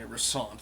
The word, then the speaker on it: Russant: Okay, Russant, that's how you pronounce it.